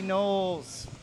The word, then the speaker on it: Knowles: Back again, Stephen Michael James with the one, the only, Knowles. Thank you for having me. Did I pronounce it correctly? Yeah, Knowles. Knowles. Yep, like Beyonce.